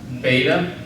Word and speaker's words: beta: an a like Father beta it's a bu like ball gamma it's a g